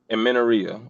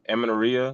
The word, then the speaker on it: amenorrhea: Irregular periods or amenorrhea. I say it wrong, but actually had a client that dealt with that, and I was able to fix that. I'm pretty sure I'm saying it wrong, amenorrhea, but that actually can be cured by proper